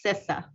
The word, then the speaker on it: CISA: love you man but it's pronounced sisa got it I'm gonna